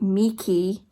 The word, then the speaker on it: Michie: through actually the Dalai Lama's Cat by David Mikey as I've learned his name is pronounced um so I've been listening to this